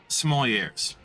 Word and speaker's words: sommelier: Right, but you pronounce the R, you're not supposed to. When it's plural, you do. The R, it's a French word. Right. The last consonant is silent unless it's pluralized in the English language.